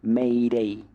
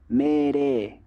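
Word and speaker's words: 命令: natural japonesa no Entonces no van a escuchar que dicen meirei meirei con la i ahí bien pronunciada sino que Mere Mere es como como que suena la e no más pero un poquito más más alargada no Mere eh eso pasa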